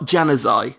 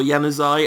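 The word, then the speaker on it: Januzaj: The only thing I know for sure about how you pronounce his name is it's not a hard J. So it's definitely not Januzai. Whether it's Yanuz or Yanuzai, I don't know.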